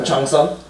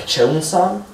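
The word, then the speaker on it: cheongsam: So Chongsum, the weird part about that is the A sound is E-O. So sometimes you can actually hear it pronounced more like Chongsum, but it's usually just Chongsum. So C-H-E-O-N-G.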